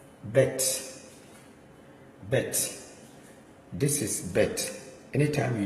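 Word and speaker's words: בית: So this is bet, but anytime you see bet and it doesn't have the daggers here, like as you see here, this one you pronounce it as a V sound, like V, but this one is bet, B.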